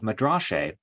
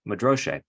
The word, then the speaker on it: madrashe: character, and they are these stanzaic poems called madrashe, or is another way of pronouncing that, depending on how you pronounce the particular dialect of Syriac, madroshe.